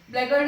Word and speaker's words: blackguard: स का साउंड आ रहा है scissors में, but C का नहीं आ रहा है, तो which letter is silent? The letter C, scissors. Next is blackguard. Blackguard is a person who uses foul language or bad language against women.